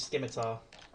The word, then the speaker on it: scimitar: This goblin up here, because Dylan just attacked him, goes towards Dylan and attempts to use his scimitar. I know I'm butchering the pronunciation of that, but I don't know.